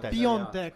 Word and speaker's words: Piątek: It's pronounced Piatek. Piatek.